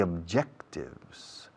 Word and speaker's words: objectives: Tenemos que, we have to, mucha F, sonido F con have to, we have to set the objectives. La B se dice objectives, objectives.